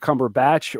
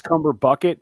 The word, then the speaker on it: Cumberbucket: Is it Cumberbatch or is it Cumbersnatch or is it Cumberbucket? It's Cumberbucket, but you spelled your name wrong.